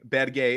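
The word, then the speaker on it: Berge: we know it's better bedgay is how you pronounce that player's name the big norwegian lads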